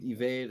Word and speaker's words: EVVDE: I mean, yeah, I go by Evade. It's spelled EVVDE.